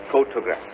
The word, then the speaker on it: photograph: For example, let's look at the word photo, photograph. The stress is on the first syllable.